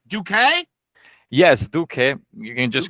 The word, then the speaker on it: Duque: I don't want to say it wrong Duque yes okay you can just call me